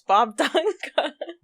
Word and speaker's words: Bobdunga: Is it Bob Dunga? Yes. I've had people say like Bob Dunga, all kinds of weird stuff. But yeah, it's Bob Dunga.